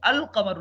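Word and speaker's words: القمر: काफ आ रहा है काफ के ऊपर कोई शद नहीं है तो लिहाजा यहां पर लाम साइलेंट नहीं होगा लाम आप पढ़ेंगे अल कमर लाम पढ़ेंगे ठीक है लेकिन अब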